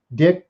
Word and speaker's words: Dyck: Dick, D. Y. C. K. Dick Dyke, you can pronounce it any which way just as long as you call me.